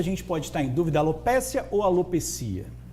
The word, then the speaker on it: alopecia: Sim, o termo correto é alopecia. Nós pronunciamos num contexto geral no Brasil alopécia, né? Alopsia porque vem do grego, a raposa, a perda do pelo da raposa. Então é alopsia. Mas as duas formas são aceitável a pronúncia.